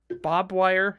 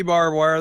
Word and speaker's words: barbed wire: dialects and accents because if someone goes Bob wire actually it's barb barb wire you don't know it's supposed to be barbed wire though because it's got